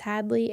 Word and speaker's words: Hadlea: um Facebook Hadley my my name's not hads it's Hadley h a d l EA um Facebook whatever just look me up not many people's name is Hadley or spelled with an a at the end so yeah I appreciate